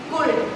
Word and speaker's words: could: वुल्ड, कुल्ड, nobody will speak these words like would, could. This is L is silent, here also L is silent.